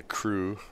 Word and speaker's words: Krewe: I think they're all from the Cruel Junior Billiards Club, or the Crew, I should say, but it's spelled Krewe.